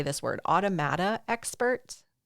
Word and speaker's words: automata: Automata expert.